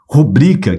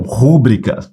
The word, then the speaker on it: rubrica: ela é uma proparoxítona foi o caso de rubrica que muitas pessoas pronunciam rúbrica vamos dar uma olhadinha